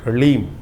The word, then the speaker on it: ह्लीम: ह के पैर में र है, फिर उसमें साथ ही में ल लगा हुआ है और ऊपर से बड़ी की मात्रा बिंदी, ओम ह्लीम। इसका उच्चारण इस प्रकार से है।